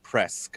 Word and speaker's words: presque: So pesque is I've almost seen this. I can't fucking figure it out. That's cool. Sweet. Good old Very cool. French. Also, presque is pronounced presque, apparently.